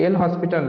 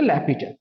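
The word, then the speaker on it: L'Hôpital: করি যেটাকে তোমরা বল কি এল হসপিটাল একচুয়ালি এল হসপিটাল না এটার প্রনান্সিয়েশন হচ্ছে ল্যাপিটাল ওকে ল্যাপিটাল এইচ এস এটা সাইলেন্ট ল্যাপিটা তো তোমার কি হবে এটা তাহলে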